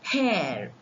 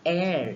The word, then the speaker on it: heir: or hair it is air here air is the successor h h-e-i-r not h-a-i-r it is h-e-i-r it is the successor so we have we call it mute h words with mute h such words take an